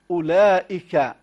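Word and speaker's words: أولئك: وا ابعاض الحركات ايضا اذا كلمه اولئك هذه الكلمه فيها واو زائده اذا اردنا اردنا اردنا ان يعني نقرا هذه الكلمه وما اشبهها من كلمات كلمات كلمات فهذه الواو لا ينطق بها ائك اذا همزه مضمومه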